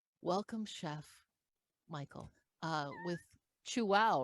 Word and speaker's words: Chuao: chef michael uh with chu wow right that's how you pronounce perfectly pronounced yes you chew and say wow chew wow and it's spelled c-h-u-a-o